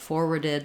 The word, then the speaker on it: forward: Also, just note that there are some native speakers who will say this more as forward with just an O sound rather than an or.